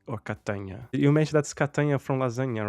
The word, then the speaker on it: Catania: You mentioned that's Catania from lasagna, right? The Italian pronunciation. That's right. Yeah, it rhymes with lasagna.